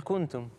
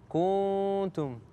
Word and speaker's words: كنتم: والنقطه الثانيه، احيانا اذا اتى الاخفاء بعد الضم تجد ان بعض القراء يضمون الشفتين مثل كنتم، فيقول كنتم صحيح؟ هذا خطأ، المفروض أن يكون عادي، فإحنا هذا نسمعه من